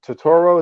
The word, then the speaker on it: Turturro: You got your boy John Turturro.